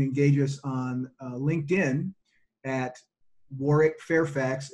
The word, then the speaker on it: Warwick: You can engage us on LinkedIn at Warwick Fairfax, and that is Warwick with the silent W in the middle, W-A-R-W-I-C-K, at Warwick Fairfax.